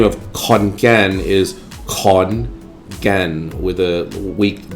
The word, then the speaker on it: Khon Kaen: KH, for example, is pronounced with an aspirated And if you see the K alone, then it's pronounced with a very weak G sound, guh. So, the name of Khon Kaen is Khon Kaen with a weak G sound.